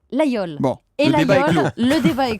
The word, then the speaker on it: Laguiole: Tiens, vous qui êtes de la région, vous l'Aveyronnaise, une fois pour toutes, on dit Laguiole ou Laguiole ? Vous l'avez très bien prononcé et c'est Laguiole.